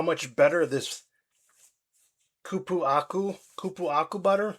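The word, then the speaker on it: cupuaçu: I can't I'm not sure if I can pronounce this. Cupuacu, c u p u a c u c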